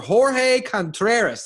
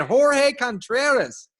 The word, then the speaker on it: Jorge Contreras: However, today I have one of my buddies, one of my friends, on the show, Mr. Jorge Contreras. Did I say it right? You said it right.